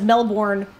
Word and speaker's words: Melbourne: with the belden as melbourn is actually correctly pronounced you take out all of those extra vowels and you throw them in the trash was once they like